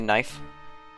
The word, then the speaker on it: knife: right okay in kitchen silent k knife a knife knife knives